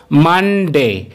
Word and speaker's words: Monday: এই দিনটিকে কিন্তু আমরা প্রায় সবাই মন্ডে বলে থাকি, যেটি কিন্তু এর সম্পূর্ণই ভুল উচ্চারণ। এর সঠিক উচ্চারণ হলো মানডে।